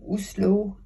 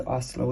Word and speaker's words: Oslo: of Norway's Eastern region between uslo and us I used to say Oslo and Os but now that we've been to Norway we have to say it properly on the city and